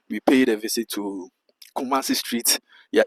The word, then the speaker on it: Kumasi: Many South Africans find it difficult to pronounce it and I mean Yeah. Yeah. It's Kumasi. Kumasi.